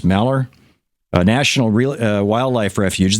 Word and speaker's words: Malheur: taken over the um maler I think that's how it's pronounced maler a national re Wildlife